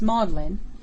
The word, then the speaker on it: Magdalene: on pronouncing it ferguson at oxford the seat of learning magdalene is pronounced maudlin probably in subtle tribute